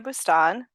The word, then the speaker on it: Boustan: andh your employer well I'm bustan um that is how you say it and um I'm a